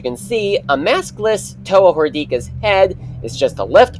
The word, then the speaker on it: Ignika: Toa, the Toa Ignika, yes, it's pronounced Ignika, some people pronounced it as Ignika, but it's Ignika.